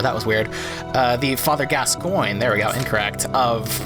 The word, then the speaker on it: Gascoigne: Wow, I've never actually pronounced that correctly before. That was weird. The Father Gascoigne, there we go, incorrect, of this game, where